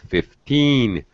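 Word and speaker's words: fifteen: so you were 15 stress 15 it sounded like 50 you know sounded like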